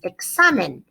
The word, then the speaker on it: examen: Okay, we don't want it to say exámenes because the original word is examen. Notice it's a rule follower. The stress is falling on the second to last syllable when it's singular, so no need for an accent mark.